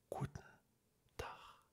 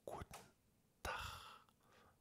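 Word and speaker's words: Guten Tag: pas ça comme ça on dit Kar on enlève le E on dit kout tar si on est dans le sud on le prononce comme je viens de le dire cout tar avec le G comme un ch alors que dans le Nord on va plutôt le dire de façon beaucoup plus dure coout tac avec un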